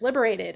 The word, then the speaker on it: LiberatED: saying it right, it's Liberated. Okay, it's spelled like Liberated, but it's Liberate, capital ED.